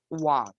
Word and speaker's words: Hwang: the real person behind it, that who inspired Hwang as he wrote this.